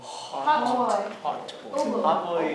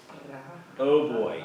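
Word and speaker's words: hautbois: Oh, I think it's oh boy, yes, oh boy, not hot.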